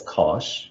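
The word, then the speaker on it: cosh: A lot of mathematicians pronounce this as kosh, which makes sense.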